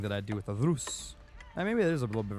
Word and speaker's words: Rus: And don't roll your R's. Listen, the Rus. I don't think that's really counts. Is that rolling an R? Rus. Rus. No, that's not a roll.